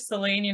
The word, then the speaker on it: Selin: Is that how you say, or how do you kind of pronounce So my first name is just like English, Celine, Celine Dion.